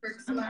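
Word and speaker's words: Herxheimer: Just like, kind of like Hexmeyer reactions, or I don't know how you say it. Herxmeyer.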